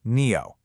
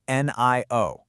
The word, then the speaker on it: NIO: The company's name, it's pronounced NEO, not NIO.